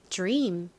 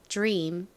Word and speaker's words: dream: m 이죠 발음 연습해볼게요 dream dream 와 R 이렇게 연달아 나오면 뒤의 디귿 소리에 지이 살짝 섞인듯한 발음이 된다라고 설명드렸죠 자 함께 써 보겠습니다